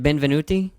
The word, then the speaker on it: Benvenuti: me if it's right or wrong is it Ben venuti oh my God you got it right well it's spelled like relatively easy it means wel W